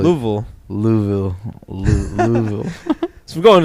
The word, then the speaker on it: Louisville: You're supposed to Louisville. like say it in 2 syllables, like Louisville.